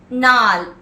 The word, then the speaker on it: gnarl: Next word, gnarl, G-N-A-R-L, where the G as well as R is silent.